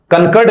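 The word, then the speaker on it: concord: लोग बोल सकते हैं कॉनकॉर्ड। कनकर्ड नहीं है दोस्तों, प्रोनाउंसिएशन पर भी ध्यान देना है, कॉनकॉर्ड।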